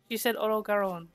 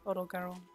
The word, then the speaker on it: Odogaron: Oh, she said Orogaron. So nice. I have been pronouncing it right this whole time. I like that the way it's pronounced, Orogaron.